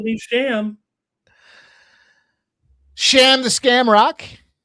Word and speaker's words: Shem: Don't call me Sham. Sham the Scam Rock. It's Shem. No, we're calling him Sham. The E is pronounced as an A in Ireland, Jeff.